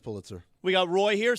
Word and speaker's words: Pulitzer: It's pronounced Pulitzer.